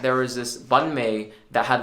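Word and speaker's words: bánh mì: for bread in Vietnamese, Banh, or some people pronounce it Banh mi, like without the tones, but with the tones.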